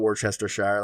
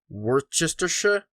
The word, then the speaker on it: Worcestershire: way to pronounce wordchestershire it's not worcestershire like the sauce yeah it's uh worcestershire we're sisters okay the shot they pronounce shire is shire unless it's connected to a bigger word then it's sha so anyway there have